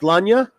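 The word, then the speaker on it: Sláine: It's pronounced Slanya.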